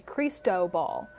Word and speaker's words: Cristobal: play sports with and you put the most pronunciation on toes so it's gonna be creased dough ball so it's just for